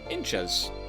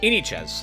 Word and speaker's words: Inichas: Inchas. Or, is that how, no, I've been saying it wrong all this time. Inichas, is that right? Inichas. Inichas is how you say it.